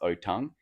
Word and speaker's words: Otang: Now, this animal is uh called the otong. Now, that's spelled O T A N G O Tang, but it's pronounced otong. Um kind of like orangutan, but actually in the